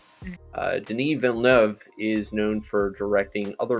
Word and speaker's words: Denis Villeneuve: look up a youtube video for how to pronounce the director's name uh denis vellnev is known for directing other movies such as